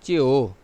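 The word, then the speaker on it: jiǔ: اس کے بعد JIU، JIU ہے، اس کا تلفظ Chiu، Chiu، C-H-I-U، Chiu ہے، اور اس کے لیے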